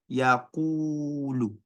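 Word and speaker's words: يَقُولُ: The reason why I said yaqulu was because there is a wow without tashkil coming after an alphabet that has dhamma. So what this wow does is to make this qaf longer, pronounced with what? Two harakats. Yaqulu, maddul asli, or maddul tabi'i.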